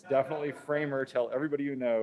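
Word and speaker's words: FraHMMER: Scale we end up with a tool called framer that's how you pronounce that it's definitely framer I don't care how you thought you were supposed to pronounce it it's definitely framer tell everybody you know it's framer and I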